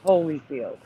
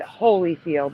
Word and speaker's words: Holyfield: I remember it's spelled Hollyfield but pronounced Holyfield. I don't remember it Hollyfield. No, because he was he was never really They called him Holyfield, too. No, no, no. They pronounced it Holyfield.